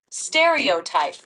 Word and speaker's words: stereotype: correct stereotype is that right you're close it's pronounced stereotype stere on the first syllable give it another